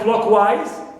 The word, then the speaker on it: clockwise: Wise, like clockwise, as usual, wise is neutral suffix, clear, and clock is stressed.